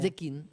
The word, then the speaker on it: Zecchin: Zecchini, ¿cómo se pronuncia? Zequín, Zecchini.